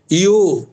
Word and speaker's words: यो: পত্রম পুষ্পম ফলম তোয়ম ইয়ো, জো নয়, ইয়ো মে ভক্তিয়া প্রয়চ্ছতি তদহম ভক্ত্যু পরহিতম ভক্তু পরহিতম অশ্নামি, পেট কাটা মূর্ধন্য ষ, দন্ত নস্য নয়, অশ্নামি ভক্তু পরহিতম অশ্নামি প্রয়তাত্মনঃ।